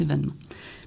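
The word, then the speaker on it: évènement: adopté l'accent grave alors on l'écrit comme on le prononce e accent aigu V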